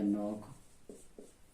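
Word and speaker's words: knock: के बाद एन, तो यहाँ पर हम के को ना पढ़ के एन से पढ़ेंगे, ये हो जाएगा नॉक, ये हो जाएगा नाइफ और ये हो जाएगा नॉट।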